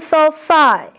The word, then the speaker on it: sulci: Sulcus and sulci. Yeah, be sure you know the pronunciation of the plural.